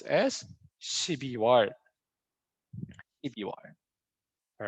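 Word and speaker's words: 유월: my special one right june is not a yuk war because they changed the pronunciation but it cuz that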